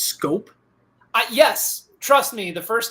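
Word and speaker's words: Schoop: Are you trying to tell me his last name is pronounced Scope? Yes. Trust me, the first time I saw Jonathan Scope's name, I thought it was Shoup, like the old Salt and Pepper song.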